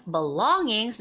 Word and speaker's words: belongings: And belongings, this one has the second syllable stress.